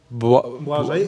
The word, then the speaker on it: Błażej: You should say Błażej. Błażej. It's Blaze in English.